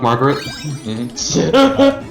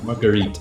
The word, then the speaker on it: Marguerite: Fuck Margaret. Marguerite is actually the pronunciation.